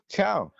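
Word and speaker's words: ciao: say hello in Italian chiao oh it's just chiao I thought so it's it's chow and goodbye hello and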